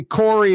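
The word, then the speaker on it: Kaare: By the way, Corey is spelled K-A-A-R-E.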